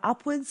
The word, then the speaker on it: upwards: There are upwards of 5,000 different bush food plants. Upwards of here means more than or greater than. When it's a suffix, wards is pronounced woods.